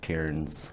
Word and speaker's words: cairn: had been doing little cairns as they call them c-a-i-r-n for is how you say karen i guess um but it's uh